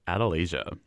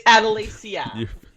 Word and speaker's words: Adelasia: Please join me in welcoming to the podcast, Adelaia. Hi. Thank you for having me. Please tell me I said that right. It's Adalacia. Adalacia.